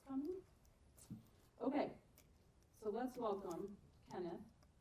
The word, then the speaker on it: Cennydd: I said it right. Did you all know that's how you say it? Now you know. I didn't quite say it right, though, but I did a little better than I had been.